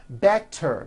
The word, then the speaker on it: better: Better becomes better.